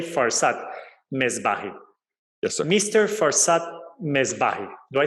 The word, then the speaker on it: Farzad Mesbahi: Farzad Mesbahi.